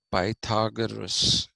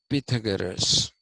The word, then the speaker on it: Pythagoras: is something that comes from pythagoras okay not pythagoras it is supposed to be pronounced pythagoras all right and what plato says is that